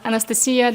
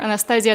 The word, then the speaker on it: Anastasiia: I'm Anastasiia. That's the Ukrainian pronunciation, or Anastasiia, the French one. You can choose whatever you want. It can be Anastasia.